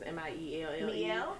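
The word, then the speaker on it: Mielle: I think I say that name wrong all the time, but it's M-I-E-L-L-E.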